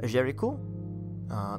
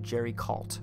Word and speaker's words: Géricault: I'm particularly thinking of a French painter, and apologies for my horrible French, Theodore Géricault. It's spelled Theodore. And then Géricault, it looks like Géricault.